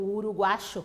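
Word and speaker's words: uruguayo: De Uruguai, uruguaio, o uruguacho, como eles pronunciam.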